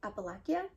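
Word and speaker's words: Appalachia: So the back says, "Deep in the heart of I feel like it's I feel like I've heard people pronounce it Appalakia, I think.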